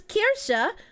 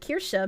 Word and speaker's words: Kirsche: By the way, did I know that Kirsche means church in German? But you didn't spell it Kirche. Kirche is church, and Kirsche is cherry.